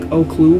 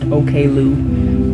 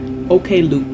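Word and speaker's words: Oklou: Um, I brainwashed myself into saying her name like Olue because that's how I like saying it, but it's pronounced Okloo. But I like saying it like Olue. But just to clarify, Okloo.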